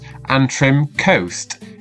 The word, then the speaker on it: Antrim Coast: first let's take a look at how we pronounce it an trim coast and again an trim Coast excellent so now